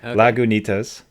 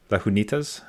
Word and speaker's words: Lagunitas: Lagunitas. I was worried that the G was silent, like Spanish. Right. Lagunitas, but it's not. Lagunitas, so be it.